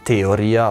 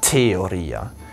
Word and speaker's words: theoria: Zum Beispiel das Wort Theoria im Lateinischen wird nicht Theoria ausgesprochen, sondern Theoria. Also man muss dann das H stark hören.